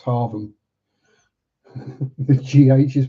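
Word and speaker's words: Hargham: It's in Norfolk, so it's Haram. The gh is pronounced as a V.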